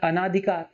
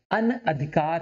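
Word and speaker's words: अनधिकार: साठ लग रहा है, अनाधिकार। तो अनाधिकार नहीं होता, बेसिकली क्या होता है, अनअधिकार होता है, अनाधिकार नहीं अनअधिकार, है ना।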